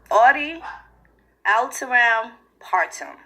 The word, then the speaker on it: audi alteram partem: So the first one is called audi alteram partem, okay? And that's 3 words, and it's spelled AUDIALTERAM PARTEM, okay?